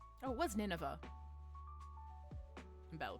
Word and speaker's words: Nineveh: Dear manager, you've given the Ninevea that I brought you to Lyon, correct? Oh, it was Nineveh. Battle pronunciations.